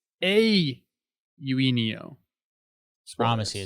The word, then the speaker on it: Eugenio: Speaking of confused, I've been calling Eugenio Suarez forever. But turns out it's a Eugenio. Promise you, it's not. You got to do the A first. Eugenio.